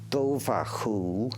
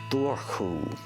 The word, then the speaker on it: Dobhar-chú: the banks for centuries you can pronounce it Dover who or door who in Ireland the earliest